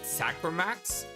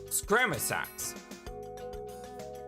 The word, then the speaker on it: Scramasax: I always pronounce it Sacramax, but the A is after the R. But yeah, I always pronounce it Sacramax. It's Scramasax.